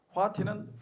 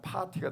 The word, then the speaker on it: fati: 화티는 페이트 영어로 하면 운명을 사랑하라.네 체가 한 말이거든요.네 체가 한 말. 그거를 이제 애플를 갖다가 피읍으로 발음하니까 파티가 되는데 실제는 화티죠.